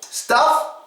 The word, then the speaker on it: stuff: Stuff, quick U sound, you don't have to stress it.